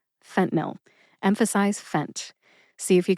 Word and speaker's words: fentanyl: two- syllable drug name fent nil that's fent which rhymes with dent and nil which rhymes with pill fent nil emphasize fent see if